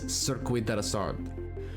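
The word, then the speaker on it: Circuit de la Sarthe: The event takes place at the circuit deasar and the correct pronunciation for this track is cirquid deasard.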